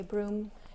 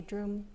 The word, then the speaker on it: drum: So Central Tibetans will actually say broom, and Eastern Tibetans will say drum.